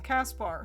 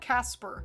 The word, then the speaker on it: Caspar: it's how it's pronounced it's how he says his own name kaspar not casper caspar oh not a literal